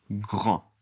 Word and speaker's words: grands: Ils sont grands. Ils sont grands. Ils sont grands. Attention, je ne prononce pas le S. Je ne prononce pas le D.